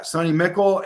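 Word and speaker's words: McCall: and uh mckl uh Sunny mckl is that how you say his name Mi c h e l yeah sunny mckl and Henderson they both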